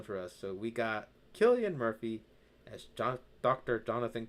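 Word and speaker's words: Cillian: I always pronounce it as Silian Murphy. I think he said it himself in interviews. It's Killian.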